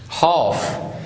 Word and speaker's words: half: minute minute and second half in this one l is silent okay don't pronounce ill